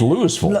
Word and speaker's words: Louisville: Because they number one, they can't pronounce the name of their town. It's Louisville.